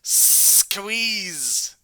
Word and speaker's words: Sssqueeze: a big hug so meet squeeze and yes that's how you have to pronounce it I don't make the rules this figure was part